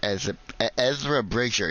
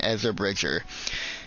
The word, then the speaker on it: Ezra Bridger: is depth is actually with the main character, Ezra Bridger. That's how you say his name, Ezra Bridger.